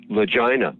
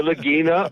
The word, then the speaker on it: Lagina: pit, be sure and pronounce their last name correctly, because it's Legina. Yes. Yes. No. No. Or Lagina or Lagina. I mean, it just depends on whether you have a Southern Italian, accent and dialect phonologically or not.